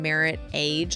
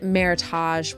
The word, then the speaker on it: Meritage: And um ChatGPT got like all snarky with me and was like, "You mean Meritage wine." Pronounced, you know, and then it pronounced it for me. Not merit age.